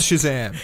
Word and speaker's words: Shazam: That was a really weird pronunciation. Shazam. It's Shazam. Shazam.